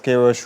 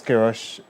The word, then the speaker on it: Queiroz: The day that Carlos Queiroz would release his final 26-month squad ahead of the 2026 World Cup.